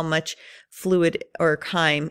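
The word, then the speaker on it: chyme: call it K I know it looks like chime but it's pronounced K and it's a mixture of the food and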